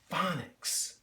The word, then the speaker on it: phonics: This word is phonics. And there's our PH making that F sound, that F sound right at the beginning of the word.